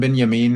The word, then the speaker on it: Benyamin: Uh, same for Beyamin. Ran Benyamin is uh that's actually the correct pronunciation from what I'm hearing. It's Benjamin with a ya instead of a ja.